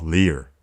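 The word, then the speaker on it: 리을: For example, if you combine tigut with it pronounces as ta, ta, ta, ta. This consonant is called leer, and this is how you write it.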